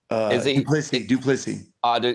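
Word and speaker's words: du Plessis: Sean Strickland and then his previous fight against how do you pronounce his name? Duplessis.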